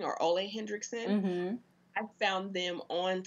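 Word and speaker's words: Ole Henriksen: Like recently I found, I think it's called pronounced Ole Hendrickson or Ole Hendrickson.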